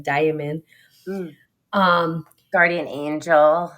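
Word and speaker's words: daimon: I always want to say like demon because it sounds like demon, but it's not demon. It's like diamond.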